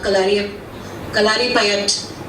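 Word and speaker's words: Kalaripayattu: First is on the Kerala martial arts, which is Kalari Payat. That's how it's pronounced. But it's spelled as Klaripayyattu.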